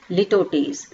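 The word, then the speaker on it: litotes: ठीक है, क्या प्रोनाउंसिएशन है इसका, लिटोटीज।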